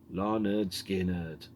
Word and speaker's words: Lynyrd Skynyrd: And then we've got Tuesday's Gone, originally released by Lynyrd Skynyrd in 1973 on the pronounced Larnerd Skynyrd album.